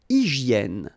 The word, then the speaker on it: hygiène: Une hygiène. So remember we've got this Y here, vowel, and it's pronounced like E, okay? Hygiène. H doesn't exist, H doesn't exist in French, so hygiène.